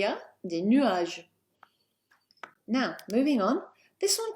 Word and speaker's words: nuages: Il y a des nuages. Il y a des nuages. That's a silent S on the end.